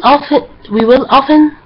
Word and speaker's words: often: اوكي okay we will often find the past simple used with time expressions such as these. اوكي often يا جماعة هي ممكن تنطق often صح و often صح. both of them are right.